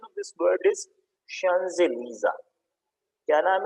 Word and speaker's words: Champs-Élysées: This word, the pronunciation of this word is not Champs-Élysées. The pronunciation of this word is Champs-Élysées.